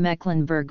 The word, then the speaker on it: Mecklenburg: would pronounce it short the same applies to the e in the geographical name Mecklenburg for people in that